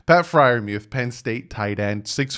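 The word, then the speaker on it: Pat Freiermuth: out of penn state and yes i will pronounce his name right that is pat friarmuth see sometimes i get names right pat friarmuth penn state tight end six foot five 258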